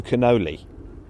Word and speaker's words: Canole: It's supposed to be Drew Canole-ee, but I called him Drew Canole.